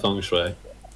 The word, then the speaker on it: feng shui: It's all about feng shui. Yeah. Is that how you say it? Yeah, it is.